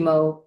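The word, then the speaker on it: Moe: Okay, I'll spell it. But I usually just go by Mo.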